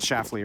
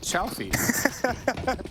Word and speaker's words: Shalfey: Shalfey, that one's gonna be tough. No, that was fine. You said Shafley earlier. No, I said Shalfey.